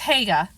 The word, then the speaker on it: Haigha: His name is Hega. He pronounced it so as to rhyme with mayor.